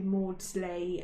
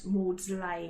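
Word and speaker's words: Maudslay: And you had a few pioneers, people like Henry Mordsley and Morslay, I think that's pronounced, and a Joseph Witworth.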